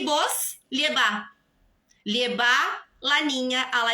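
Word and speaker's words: llevá: E vos, lleva. Lleva la niña a la escuela. Também a tônica da sílaba cai para a última.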